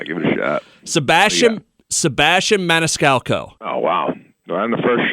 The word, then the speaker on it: Maniscalco: I'm not great at pronouncing last names, and yours is a mouthful. Give it a shot. Sebastian Maniscalco.